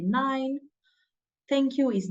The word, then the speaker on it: nein: If you want to say no, you say nein.